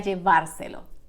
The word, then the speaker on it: llevárselo: And don't forget the accent mark in the last syllable of the infinitive form of the verb. Voy a llevárselo.